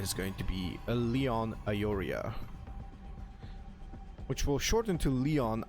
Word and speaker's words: Aiuria: check how the uh the second part of the name is pronounced like aoria I guess this is how you actually pronounce it so TVP what do